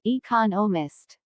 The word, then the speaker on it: economist: There are 4 syllables in economist, with the stress on the second syllable economist.